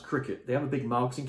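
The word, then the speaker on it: Cricut: but it's like spell cry cut but it's pronounced Cricket they have a big marketing campaign so you'll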